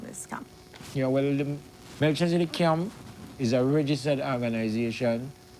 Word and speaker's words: Melchizedek: The name is Royal Melchizedek Camp. Melchizedek Camp, exactly. So let's talk about the formation of that, and of course, you know, what is the goal from this camp? Yeah, well, the Melchizedek Camp is a registered organization for the Rasta